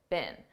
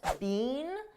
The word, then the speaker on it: been: bickering all day now notice I said bin bin a very unstressed bin this is how we pronounce the past participle of the verb be bin in American English I don't speak British English but I believe believe in British English they pronounce it more stressed being but in American English we don't do that we just say B been they've been they've been